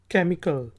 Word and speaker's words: chemical: Word है CHEMICAL, केमिकल। केमिकल कीमियाई को कहा जाता है, H साइलेंट है, केमिकल।